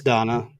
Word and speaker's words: dana: I'm I'm assuming it's pronounced Donna, but it just looks like some lady named Dana. D A N A. Yeah, it's Donna or generosity and the belief that the body